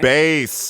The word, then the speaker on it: Bass: A lot of people pronounce it bass like the fish, but it's spelled the same as bass like the instrument, and considering his line of work, just makes a lot more sense.